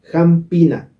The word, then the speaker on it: jampina: dice hambina ya jaina jampina amigos Quiero aclararles que jampina se le andina pero se escribe jampina con la p eso lo explico en